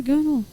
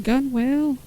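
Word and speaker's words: gunwale: Don't stand on the gunnel." I'm like, "What's a gunnel? You mean gun whale?" It's like, "Yes, if you don't want to say it correctly."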